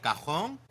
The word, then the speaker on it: cajón: The J in Spanish sounds like the English H in house, but stronger from the back of your throat.